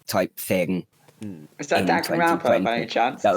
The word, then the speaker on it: Danganronpa: I love how you say Danganronpa. I don't know how you pronounce it. How it's spelled. How do you pronounce it? How it's spelt. Danganronpa. Dan can Ronpa.